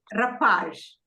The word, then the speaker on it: rapaz: Now, the same way, rapaz. You say rapaz. Rapaz is a boy, is a young boy. So you don't say rapaz, but you say rapaz. You stress on the second syllable.